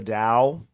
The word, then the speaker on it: Dao: Today we're going to talk about the confusion idea of the Dao. Uh that's the way the word is pronounced. It's sometimes spelled T AO in English, but it's pronounced as if with a D.